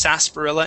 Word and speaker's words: sarsaparilla: Okay, but yes, it would be pronounced sarsaparilla instead of sar. Sarsaparilla, it's sa. Okay. Sarsaparilla. It's sarsaparilla. Okay. Yeah, instead of sarsaparilla. Yeah, the R is silent.